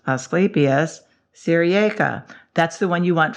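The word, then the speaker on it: Asclepias syriaca: because he sounds so into his job ready asclepius sirieca asclepius sirieca that's the one you want for your for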